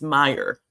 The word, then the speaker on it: Meyer: His last name is Meyer. That's how it's pronounced.